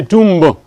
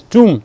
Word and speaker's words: tomb: Like in tomb, you don't say tomb. It is tomb. It is silent.